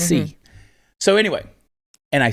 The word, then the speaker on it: psi: It's not psi, it's c.